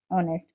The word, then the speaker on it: honest: So honest starts with a vowel sound O when we pronounce it. That's why we use an. Okay. So the letters H is silent. We pronounce honest as honest.